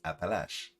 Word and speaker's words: Appalachian: We just doesn't pronounce the same way you do. It's Appalach. That's it. Yeah, and the way I'm pronouncing it too, most people in the United States don't pronounce it that way either. That's the way they pronounce it in the Southeast.